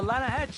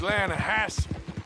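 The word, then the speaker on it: Lannahechee: maintenance no no no the Lana hatch it runs right near here yeah but it's pronounced Lana Hass why is everything in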